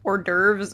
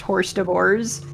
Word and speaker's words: hors d'oeuvres: person is that for quite some time I didn't realize that like hors d'oeuvres and the mispronounced horse divorce were different things.